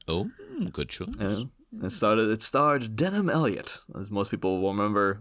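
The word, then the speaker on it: Denholm Elliott: But to believe Denham Elliott is spelt like Denholm. Yeah. So it's not Denham, but, you know. Same pronunciation, though, pretty much, you know.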